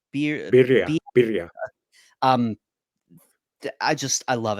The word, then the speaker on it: birria: And I never know if I pronounce it right. Is it bira? Birria, Be birria.